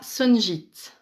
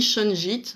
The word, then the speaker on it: shungite: C'est la sunjite. Donc ça s'écrit shunjit, généralement on dit sunjit.